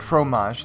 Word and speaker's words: Phromaj: Is it coincidence that the French word for cheese, while spelled differently, is pronounced just the same and means the same thing?